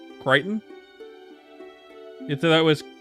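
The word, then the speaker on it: Crichton: Do you not know that that's how his name is pronounced? Kiteon. You thought that was Christian or something?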